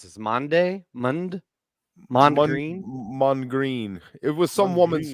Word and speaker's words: Mondegreen: How do you pronounce this? Mondegreen? Mondegreen.